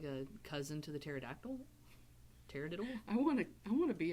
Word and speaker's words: pterodactyl: a cousin to the pterodactyl i wanna i wanna be a pterodactyl is it spelled with a pt the silent p no i call it